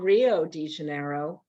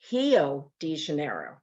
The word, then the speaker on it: Rio de Janeiro: has guttural sounds like in german they don't pronounce ours so like you know it's not rio de janeiro it's hello degenerate and you know but it's spelled rio so